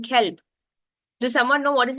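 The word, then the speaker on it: كلب: One is qalb with a qaf. The next one is with a kaf, kelb.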